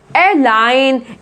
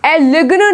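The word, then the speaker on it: align: एलाइन, एलिग्न नहीं बोला है ना, एलिग्न नहीं बोला है, एलाइन।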